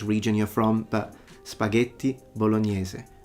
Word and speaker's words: bolognese: In French we would say spaghetti bolognese, and in English it's normally say spaghetti bolognese or something like that. But the typical Italian pronunciation would normally be spaghetti bolognese.